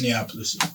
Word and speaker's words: Minneapolis: Minneapolis.